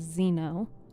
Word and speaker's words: xeno: X E N But it's actually pronounced with like a Z.